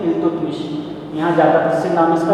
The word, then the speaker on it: इल्तुतमिश: अच्छा, इल्तुतमिश को अल्तुतमिश के नाम से भी जान सकते हैं, कुछ बुक्स में उनको प्रोनाउंसिएशन का अंतर है, अल्तुतमिश भी बोल सकते हैं, इल्तुतमिश।